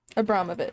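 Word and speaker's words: Abramović: Before I get started, I need to go look up how to pronounce something. Marina Abromovic. Is that it? Yes. Abromovic.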